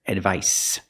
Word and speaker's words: advice: Remember, the C makes the S sound here. Advice.